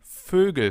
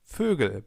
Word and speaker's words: Vögel: of different words, like Vögel, birds. Try to pronounce an O, so the German version of an O, and then round your lips. Ö, Ö. And you get Ö.